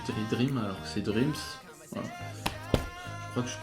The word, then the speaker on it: Dreams: Donc voilà pour Dreams, pardon. Je sais pas pourquoi je dirais Dream alors que c'est Dreams.